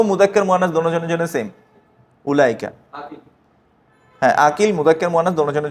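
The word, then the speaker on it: أولئك: যেমন ওটাতে হবে কি উলাইকা ওটা বাইত হ্যা এই ওয়াওটা কাজে আসবে না উচ্চারণ হবে না উলা আলিফ মাদ হামজার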